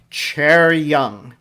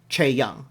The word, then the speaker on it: Chaeryeong: Okay, so this is Chaeryeong. It's Chaeryoung. The reason the R right in the middle, so I can't just say Chaeyoung.